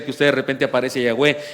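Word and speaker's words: Yahweh: cómo sonaban las palabras alguien se alcanzó la puntada de que sonaba Jehová por las vocales que le puso Pero después descubrió que eran otras y en realidad suena yahwe es muy probable que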